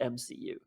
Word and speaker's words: EMCU: It's the EMCU because it's EVBO Minecraft Cinematic Universe, so it's still pronounced MCU.